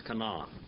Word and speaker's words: Canaan: come on it's not we kind of mess it up in English it's come on come on can you say come on that's how you say it in Hebrew come on come on means what